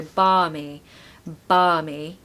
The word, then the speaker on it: balmy: barmy means pleasantly warm don't pronounce the L by the way it's really strange word